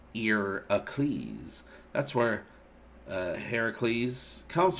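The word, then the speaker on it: Ἡρακλῆς: be into watching more in greek heracles is irocles pronounced ear ecleese that's where uh heracles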